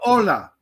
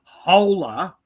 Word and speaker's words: hola: When you greet a Spanish, you go hola. You don't go holla. You go hola. Oh, I would say holla. Yeah. No, it's hola.